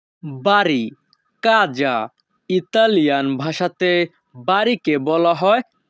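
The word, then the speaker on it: casa: বাংলা অর্থ পা বাড়ি কাজা ইতালিয়ান ভাষাতে বাড়িকে বলা হয় কাজা এখানে এস এর উচ্চ হবে যা ইতালিয়ান ভাষা কাজা বাংলা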